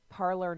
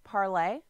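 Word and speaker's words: Parler: it up for you parlor news sorry it's pronounced parlay but it's parlor news and it's a new platform it's named for the French word meaning to speak parlay and many are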